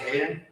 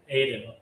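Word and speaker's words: Adin: Is it Hayden? Aiden.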